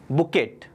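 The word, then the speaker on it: bouquet: अपन इसको बुके बुके करते हैं, लेकिन इसका असली प्रोनाउंसिएशन क्या है? बुकेट।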